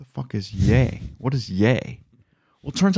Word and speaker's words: Ye: i was always saying yi but it's yay it's the end of his name kanye well that makes sense